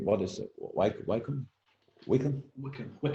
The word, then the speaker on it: Wycombe: I'm neither Wycombe. What is it? Wycombe? Wickham.